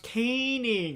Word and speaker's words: Koening: name caning uh my my last name is pronounced canning like k like letter k then ning ning nin ga i